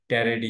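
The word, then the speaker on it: Pteriidae: order है और इसके रेडी रेडी ये पीस साइलेंट है रेडी इसकी फैमिली है और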